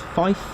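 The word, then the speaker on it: five: Numbers are pronounced, I think there's 3 numbers that are pronounced differently. So 3 is tree, 5 is fife, and 9 is niner.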